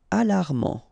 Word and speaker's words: alarmant: Alarmant, final T not pronounced.